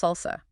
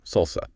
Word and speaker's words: SLSA: I hear that pronounced salsa. Yes, SLSA, supply chain levels for software artifacts, pronounced salsa. It's not a tool, but a security framework or specification.